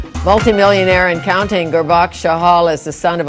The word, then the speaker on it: Gurbaksh: Well, I think having an unusual first name, Gurbaksh, is pretty tough to pronounce.